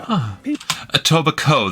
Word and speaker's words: Etobicoke: In Etobicoke, Ontario, Etobicoke, the K is silent.